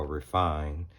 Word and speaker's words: Raffine: a look at the marco riffini i've also heard it pronounced marco refined 36 count watercolor pencil